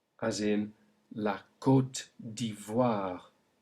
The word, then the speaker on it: Côte d'Ivoire: But when it's followed by an I to make OI, we then get the sound wa, as in la Côte d'Ivoire. Say it. La Côte d'Ivoire.